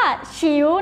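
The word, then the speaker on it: 球: อ่า ไม่ มี นะ คะ มี คำ ว่า ฉิว นั่น เอง ค่ะ ฉิว อ่า ฉิว แปล ว่า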